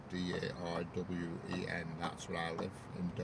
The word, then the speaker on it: Darwen: or anything, it's called Darwen, D-A-R-W-E-N. That's where I live, in Darwen. Yeah, it's like the one in Australia, but spelt with an E instead of an I.